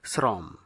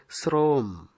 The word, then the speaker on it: শ্রম: পরেরটি অনেকে উচ্চারণ করে থাকেন শ্রম, আসলে সঠিক উচ্চারণ হবে শ্রম, শ্রম, এই শব্দটি ব্যাকরণ সিদ্ধ।